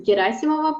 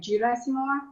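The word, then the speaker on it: Gerasimova: pronounce your last name like in russian it's a geraisimova but you can pronounce it like jira as more as you want i will try yeah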